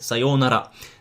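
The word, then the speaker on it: さようなら: sayonara, or you can make it a shorter one, which would be sayonara. But don't say sayonara or something, say sayonara. And try to pronounce the R in the Japanese way.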